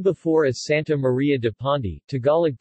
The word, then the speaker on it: Pandi: Known before as Santa Maria de Pondi, Tagalog pronunciation, Pienda, it is named under the patronage of the Immaculate Conception, also known as La Purísima Concepción.